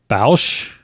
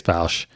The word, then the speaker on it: Boushh: Jabba the Hutt, Zuckuss and Forlom, Boushh. I think that's how you say it. Yeah, I think it's Boushh.